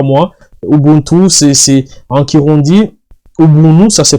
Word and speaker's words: Ubuntu: Ubuntu, c'est en Kirundi, Ubuntu, ça se prononce Ubuntu, c'est la générosité, c'est les partages.